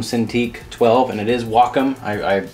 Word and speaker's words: Wacom: It is a Wacom Cintiq 12, and it is Wacom. I called them to ask for pronunciation, but it is the smallest LCD tablet they make.